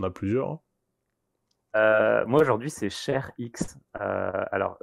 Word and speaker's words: ShareX: Moi aujourd'hui, c'est ShareX. Alors, ça s'écrit Share comme le partage et Ouais. X comme la lettre X.